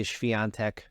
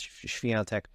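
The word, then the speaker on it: Świątek: We cover so much Iga Swiatek, as people sometimes say Iga Swiatek, as Americans say, but of course it's Swiatek.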